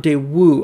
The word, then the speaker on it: Daewoo: the styling later on it's interesting how he pronounces it day ooh not de woo I've always heard it with the w pronounced more strongly than that but the Pontiac Le